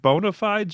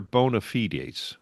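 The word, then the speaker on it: bona fides: I guess is it is it bonafides or bonafites? I've I've heard it pronounced both ways.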